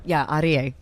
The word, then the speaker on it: Aryeh: You've got to say his name R-E-A. That's right. Aryeh.